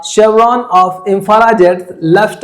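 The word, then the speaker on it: chevron: Finally अ शेवरॉन, ये pronunciation थोड़ा सा आप ध्यान दीजिएगा।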